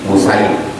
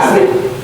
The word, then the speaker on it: Usaid: 343 Wan Abi Usaid, cara membacanya bi dhammil hamzah wa fathis sin sa. Jangan baca asid. Asid itu asam asid. Usaid. Kalau asad singa. Asad singa. Usaid singa kecil.